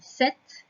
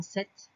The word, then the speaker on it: sept: 7, je te rappelle qu'il y a un P qui est muet dans 7.